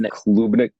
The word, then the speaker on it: Klubnik: Klubnik.